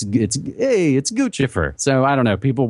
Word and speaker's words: Guccifer: It's got two C's. The Italian in me says it's Guccifer.